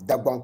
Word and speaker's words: Dagbon: Dagbon is the original name, Dagbon Kingdom. And you know, those who don't know how to pronounce the Dagbon, they call it Dagomba.